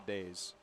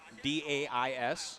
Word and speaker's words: dais: It's a daze. Do you really say, a daze? We're on a daze. No. D-A-I-S? It's a dais. Maybe where you're from, not in the Northeast.